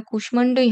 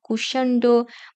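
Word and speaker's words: কুষ্মাণ্ড: ওই রীতি অনুযায়ী এটা কুষ্মান্ডই হবে এটা কুশান্ড বা সুচিস্মিতা এরকম কিন্তু হবে না এটা সংস্কৃত রীতি অনুযায়ী কুষ্মান্ড সুচিস্মিতা স্মিত এরকম হবে এবার দেখা যাক জ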